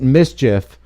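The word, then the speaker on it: MSCHF: against new york-based company you pronounce it mischief over its controversial Satan's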